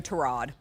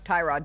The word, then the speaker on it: Tyrod: We have a new Terrod, formerly known as Tyrod Taylor until we all learned years into it that he actually goes by Trod Taylor.